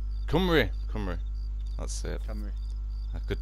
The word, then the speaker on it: Cymru: you pronounce it, but is it crime? Crum commando? Cymru. Cymru, that's it.